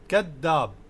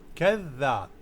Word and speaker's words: كذاب: If you find it difficult, you can use D as كذاب. كذاب. People will understand it, but the correct pronunciation is when you take out your tongue and say it. كذاب.